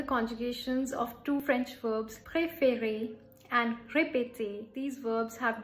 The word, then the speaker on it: préférer: In the first E, every time you're pronouncing it as A. Therefore, it is becoming pré. So that's why you're putting the accent aigu.